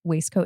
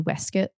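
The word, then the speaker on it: waistcoat: scoopneck waist coat yeah did you guys know the proper pronunciation of waist coat is actually wuit yes I've heard that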